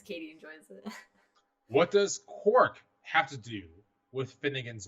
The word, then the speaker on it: quark: for peculiar objects and Quark rhyming with pork came out at the